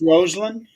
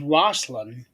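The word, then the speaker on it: Rosslyn: pronounced Roseland. Roseland. Okay. Yeah. When I read it, it reads like it's Roslyn Yeah.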